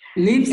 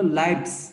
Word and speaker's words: lives: Hour লিভস না, এটা হলো লাইভস। ওকে, লাইফের প্লুরাল ফর্ম, এইজন্য এটা তোমার উচ্চারণটা হবে এই জায়গায়, এটা যেহেতু নাউন এই জন্য লাইভস হবে, লাইভস, লাইফ থেকে লাইভস।